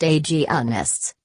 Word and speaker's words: agonists: Gonadotropin-releasing hormone, GnRH, agonists, pronounced agonists, stop the production of certain hormones to prevent ovulation, menstruation, and the growth of endometriosis.